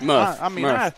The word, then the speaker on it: Muff: And you pronounce Muff, correct? Muff. Yep.